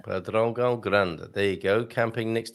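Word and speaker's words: Pedrógão Grande: Because of the nasal sounds, because we have lots of nasal sounds, right? And then that is also another nasal sound. And Pedrogão, because you should have an accent on the O, so it's the stress is there. So it's Pedrogão Grande.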